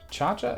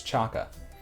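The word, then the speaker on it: Chaca: Because I just realized the other day, I've been calling her Chacha, and I think it's Chaka.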